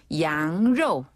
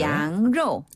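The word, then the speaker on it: 羊肉: 양로. 양로. 양로. 양로. 그렇죠. 양고기는 정말 양고기처럼 발음하네요.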